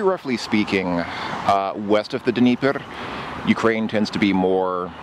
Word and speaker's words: Dnieper: Dnieper. Russians spell it with an E. Ukrainians spell it with an I. So Dnieper or Dnieper.